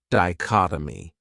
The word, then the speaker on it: dichotomy: This word has 4 syllables, and the stress is on that second syllable, dichotomy. That third syllable has that schwa, that sound, dichotomy.